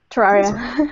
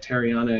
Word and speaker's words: Terraria: Terraria. Yeah, I'm sure I'm going to call it like Terriana again.